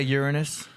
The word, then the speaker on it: Uranus: You can say Uranus.